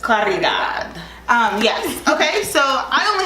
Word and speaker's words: Caridad: Yes, in Spanish you roll your R, so I just Caridad.